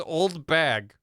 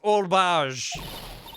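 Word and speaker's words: Oldbag: Her name is Old Bag. It's pronounced Old Bage.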